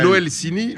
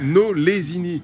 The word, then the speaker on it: Nolesini: Tu dis pas Noelsini, Nolesini. Nolesini. Comme ça se prononce.